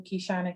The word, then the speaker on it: Keyshanna: ig as the official kishana um twitter kishana kk facebook hishana and youtube kishana and it is spelled the way it's pronounced -e-y s-h-a-n-n-a okay no